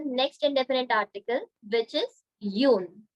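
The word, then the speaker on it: une: indefinite article which is Yun Yun no sound should come at the end Yun this Yun also means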